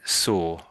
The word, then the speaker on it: saw: Um, so when you're saying it, you're most Brits would say would say saw. Saw. You're sort of seeing the W and you're trying to make a nice sound. Sore perhaps in a slight w sound, but really it's it's most Brits sort of softer than that. It's not quite. So it's we sort of ignore the W in a way.